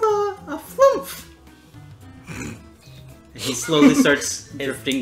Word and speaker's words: flumph: Oh, well, my race is called a flumph. And he slowly starts drifting downwards. Cause we make this noise. How would you spell that? F-L-U-M-P-H. Flump.